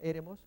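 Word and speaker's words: ἔρημος: El acento acá, fíjense que es una palabra estrújula. Mos es la primera sílaba, se cuenta de derecha a izquierda para allá. Re es la siguiente y la E.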